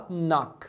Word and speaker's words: knock: de falar é que o verbo kock você não pronuncia esse k Inicial tá você fala kock fala do n pra frente quando é no